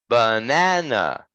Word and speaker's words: banana: the second one correct so when we say this word our voice goes like this it's banana banana okay the second syllable is stressed we need to put